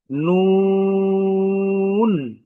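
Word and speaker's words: نون: আমরা যে হরফটি শিখবো এই হরফটির নাম হচ্ছে নুন। আমি আবারও বলছি নুন। এই হরফটির উচ্চারণ যদি আমরা একটু খেয়াল করি তাহলে দেখব এই হরফের উচ্চারণ বাংলাতে নুন।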